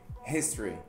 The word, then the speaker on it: history: Mas, licença fonética novamente, uhum. History. History. History. History. Duas sílabas.